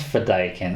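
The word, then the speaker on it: Fedaykin: one day had another planet they call it fedakin or something in this but it's pronounced fedaiken i know that from the miniseries and the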